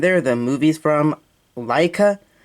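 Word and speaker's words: Laika: are the movies from Leica l a i Kaa is how you pronounce it h but I don't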